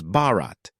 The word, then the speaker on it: Bharat: language in the country in Hindi the country's name sounds like Bart Bart which can be pronounced as Bharat the issue will be